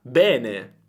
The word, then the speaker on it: bene: E quindi qual è la pronuncia corretta? Beh, se tu vai su questo manuale, su questo dizionario, vedrai che la pronuncia corretta è aperta. Bene.